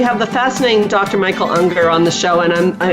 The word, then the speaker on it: Ungar: Michael Unger on the show and I'm keep worrying I'm not saying your name right am I saying it right yeah you ng AR and it rhymes with hunger okay good I'm doing